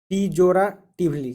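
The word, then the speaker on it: pejoratively: Next word है पीजोराटिवली। क्या? पीजोराटिवली। पीजोराटिवली। देखिए जो लंबा वर्ड है ना उसको ब्रेक करके ऐसे उसको प्रोनाउंस कीजिए। देखिए तो पीजोरा यहाँ तक कर लीजिए, फिर टिवली।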